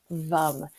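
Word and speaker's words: vam: sound of vum vum it's v m pronounced vum and this will stimulate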